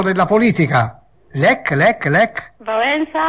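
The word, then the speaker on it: Wałęsa: invece nel campo della politica lec lec lec valensa valensa e un polacco famoso nel campo della religione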